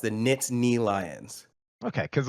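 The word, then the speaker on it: Nittany: so it's not the nitty Lions it's the NIT knee yes there's that n that n is definitely pronounced the knit knee Lions okay cuz like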